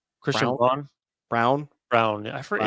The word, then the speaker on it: Braun: Brown. Christian Brown. I forget. It's spelled Braun.